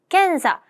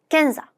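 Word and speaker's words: 検査: 그다음에 검사 이거는 앞에는 받침이 있고 뒤에는 없으니까 캔사 뒤에는 암것도 없습니다. 그래서 캔사라고 읽습니다.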